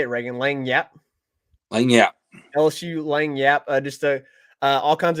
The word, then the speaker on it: Lagniappe: Lagniappe.